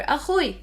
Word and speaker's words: أخوي: If you want to say my brother, also to pronunciation, pick the easiest one. You can either say أخي or أخوي. I use أخوي normally.